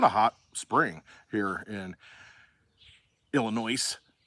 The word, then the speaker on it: Illinois: So it's been a hot spring here in Illinois. S is silent.